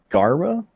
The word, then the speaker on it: Gara: You said I said your name wrong. It's Gara? Yeah. But no, I can understand you were kind of mixing it with garbage and stuff.